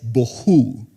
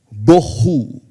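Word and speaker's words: בֹהוּ: estaba sin orden y vacía esta palabra es bohu bohu así se pronuncia no le estoy diciendo que así se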